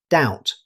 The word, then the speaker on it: doubt: Here's another word with a silent B. Instead of pronouncing every letter, native speakers say doubt.